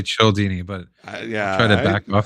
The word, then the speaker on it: Cialdini: Childini. Oh yeah, yeah, Yeah. yeah. But supposedly it's that H is silent, so it is Dini.